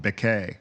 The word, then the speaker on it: Beckett: I thought you were going to say people called him Becquet. That's the French pronunciation. Beckett.